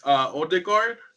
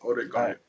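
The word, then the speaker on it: Ødegaard: So I believe the way you say it is Odegaard. Yeah, I think that's how you say it, Odegaard.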